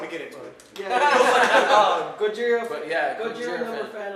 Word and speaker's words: Gojira: And oh yeah, we don't call him Godzilla. Real fans call him. It's Gojira. pronounced Gojira.